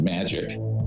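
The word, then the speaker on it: MAJIC: the majority intelligence committee ma ajic is pronounced magic ironically uh or not ironically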